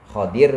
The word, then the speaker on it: Khidir: Khadir boleh, Khidir boleh. Bacanya dua. Khadir, Khadir atau Khidir. Khidrun atau khadirun. Dua.